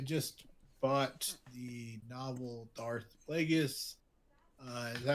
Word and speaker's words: Plagueis: Oh, by the way, I just bought the novel Darth Plagueis. Is that how you say his name? Plagueis, yes. Plagueis.